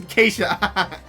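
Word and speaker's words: Ke$ha: Keshar? Kesharana? Oh, it's pronounced Kesha.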